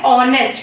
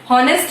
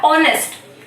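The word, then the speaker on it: honest: कैसा प्रोनाउंसिएशन करेंगे, ऑनेस्ट, हिंदी में ऐसे लिखेंगे। ठीक है, हॉनेस्ट नहीं बोला जाता है, ऑनेस्ट।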